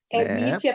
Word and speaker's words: Mitia: Não tem o acento gráfico, mas tem o fonético. Mítia paroxítona, mas é um nome russo e conserva a escrita da palavra, sem acento.